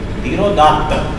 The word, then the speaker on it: धीरोदात्त: धीरोदात्त पूरा बोलेंगे इसको, आधा तय का उच्चारण भी होना है, पूरे तय का उच्चारण भी होना है। धीरोदात्त।